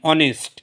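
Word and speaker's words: honest: Consonant দিয়ে শুরু অনুচ্চারিত একযুক্ত অ বা আয়ের মতন উচ্চারণ হলে এর আগে অ্যান বসে। যেমন এক্সাম্পল আছে অ্যান অনেস্ট, অ্যান অনেস্ট।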